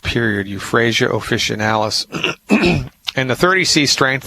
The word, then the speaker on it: euphrasia: want to find the homeopathic medicine that says euphrasia let me spell that for you e like Edward u p